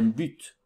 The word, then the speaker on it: but: un but but attention on doit prononcer le thé finale un but par exemple il apprend